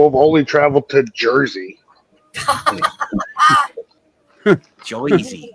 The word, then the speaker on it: Jersey: Joyzy. You got to say it right. It's Joyzy. Joyzy. Joyzy. Joyzy. Boise, Idaho. Kind of like Boise, but Joyzy. Yeah.